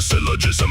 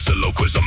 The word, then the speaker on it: syllogism: He has a syllogism, but he butchered the name. He calls it sylloquism, and he feels no shame.